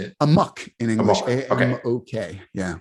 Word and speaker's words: Amok: How do you pronounce this? Amok or Amok? How do you say it? Amok in English.